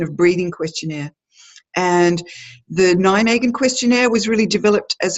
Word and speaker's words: Nijmegen: probably helpful because it's it doesn't sound like you spell it it's n IJ m EG e in like an a megan the town and I'm